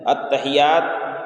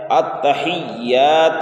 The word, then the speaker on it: التحیات: بیشتر غلطیاں ہوتی ہیں۔ التحیات کہا جاتا ہے اور پڑھا جاتا ہے، جبکہ کیا ہے کہ یا میں دیکھیں یہاں پر تشدید ہے، اور ابھی بتایا گیا